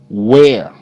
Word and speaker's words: where: Where. W. Air. Where. Where. E is silent.